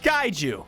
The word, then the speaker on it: kaiju: It's pronounced kaiju.